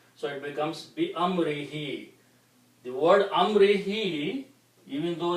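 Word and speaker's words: بأمره: And for the pronunciation, we also pronounce this he to make easy on the tongue. So it becomes Bi Amrihi.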